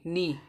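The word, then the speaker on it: knee: कब साइलेंट रहेगा एन के पहले आया हुआ के साइलेंट रहता है ऐसे के एन डबल ई नी तो यहां पर के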